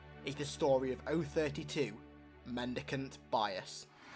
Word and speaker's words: Mendicant Bias: the story of o32 mandicant bias mendicant bias like keep pronouncing it wrong i think there's an